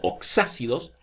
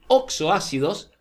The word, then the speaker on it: oxoácidos: son los oxxo ácidos el nombre correcto para pronunciar el oxxo ácidos lo van a en córdoba lo van a encontrar a veces como ox ácidos ox y ácidos pero lo correcto sería decir oxxo ácidos o ácidos oxigenados los